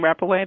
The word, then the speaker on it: Rappaway: Is the proper last name Rappaway? That's how you pronounce it? Yes.